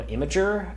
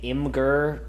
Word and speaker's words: Imgur: I was very big on Imager at the time. Please, no one say Imgur to me. That's wrong. It's like mispronouncing data.